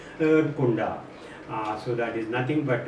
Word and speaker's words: Erdkunde: That's how it is given, but it is pronounced in German as Erdkunde.